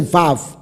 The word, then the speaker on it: vav: v 而不是无，乃是 vav。